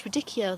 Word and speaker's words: radicchio: was it radicchio that's radicchio that i think with a h you don't pronounce it if i'm right